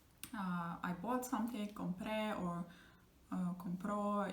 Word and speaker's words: compró: So like I bought something, compré, or compró. If he bought something, the stress is going to be on the last syllable again with the tilde.